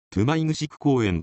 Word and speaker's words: 泊城公園: が難しいですね標準語で言うと止まり城公園ですがここは方言読みでトゥマイ串 9 公演となっている場所です地図